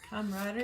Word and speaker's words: camaraderie: I think the com- camaraderie What's that word? Comradery. Comradery. You put too many R's in there. A few. Too many syllables.